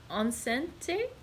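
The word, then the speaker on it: enceinte: um and yeah the the french word for pregnant is onsen t e-n-c-i-e-n-c-e-i-n-t-e so i'm sorry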